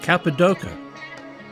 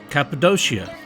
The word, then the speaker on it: Cappadocia: capid DOA capadia capid doia they are all acceptable pronunciations to people from the central part of modern day Turkey after all tourism is